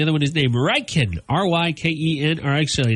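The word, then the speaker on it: Rykyn: R-Y-K-E-N. Or actually, it's R-Y-K-Y-N, but it's pronounced like Ryken, which I thought was cool.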